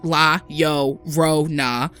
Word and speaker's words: La Llorona: The legend of La Llorona, pronounced La Llorona.